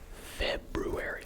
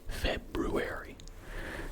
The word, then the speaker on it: February: You do not pronounce the first R unless you need to remember how to spell it.